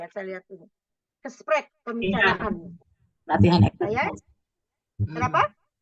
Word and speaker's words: gesprek: Oke, gesprek. Coba yang lain ditutup semua itunya, mic-nya. Kita coba dengarkan dan coba dibunyikan di dalam ruang masing-masingnya. Tipnya ada G, dibacanya seperti ada dahak di sini. Gesprek.